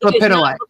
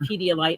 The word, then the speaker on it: lepidolite: It's lepidolite. Lepidolite. It is not Pedialyte. It's lepidolite. Like it's spelled.